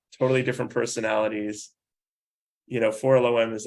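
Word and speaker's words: 4-LOM: entire life I said for long and I was corrected by a story group so in general the the the droids are sort of pronounced phonetically so that's you can visualize how they're spelled I guess it's always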